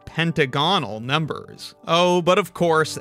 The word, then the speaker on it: pentagonal: call the numbers pentagonal so it's not pentagonal it is instead pentagonal everybody seems to agree